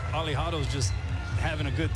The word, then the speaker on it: Alejado: alad well I mean the pronunciation of uh aliado is Ali right right so almost like Muhammad Ali so maybe Ali hay